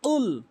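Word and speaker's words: قُلْ: 95% লোক ভুল করে কুল বলে কুল বলে ভুল উচ্চারণ ভুল অর্থ দাঁড়ায় বলতে হবে কুল জিহ্বার গোড়া থেকে কুল ধাক্কা দিয়ে উচ্চারণ করবেন কুল এভাবে তাহলে আপনার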